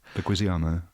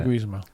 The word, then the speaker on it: Leguizamo: Yeah, and poor little tiny John Leguizamo, whatever his name is. What's his name? Say his name. Leguizamo. I like the way I John say Leguizamo.